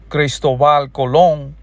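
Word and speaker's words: Cristóbal Colón: Because we do understand we got history books, we got receipts and documents that so-cal Christoval cologne which is that's how you pronounce it in Spanishal cologne got here in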